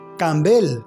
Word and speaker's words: Campbell: Campbell, agregó acentuando mucho la última sílaba.